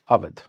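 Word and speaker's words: Awadh: Aad is also written by UD that is called Ud or Aad.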